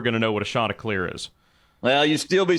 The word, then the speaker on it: Chanticleer: Hey, this is how you pronounce Chanticleer. It ain't the chants. It ain't the chandeliers.